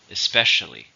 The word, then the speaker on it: especially: more it's an adverb how many syllables aren't especially for stress in a second especially she is especially cranky